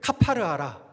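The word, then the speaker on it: כָּפַר: 칠하라 하는 칠하다의 히브리어 발음은요, 카파르입니다. 그러니까 14절 말씀을 히브리어식으로 읽으면 이런 거예요. 너는 고페르 나무 방주에 코페르를 카파르하라.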